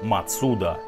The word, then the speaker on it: Mazda: если уж совсем придираться то правильно произносить мацуда прародителя mazda была строительная